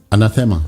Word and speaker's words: anathema: Is that the pronunciation, or anathema? Anathema. Yeah.